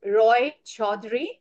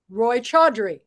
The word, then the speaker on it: Roychowdhury: you're located okay so my last name is Roy chadri Roy chre Roy chre yes and I live in um